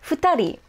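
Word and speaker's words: 二人: even close to ichi but let's keep going futari yeah that totally sounds like knee doesn't it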